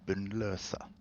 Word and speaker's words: Bunnløse: or in Norwegian Bunnløse. So that, Because ooh, it's an that extra O, syllable.